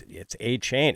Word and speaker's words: Achane: And, like when people would mispronounce his name or so I thought in the off season, I'm like, no, it's Achane.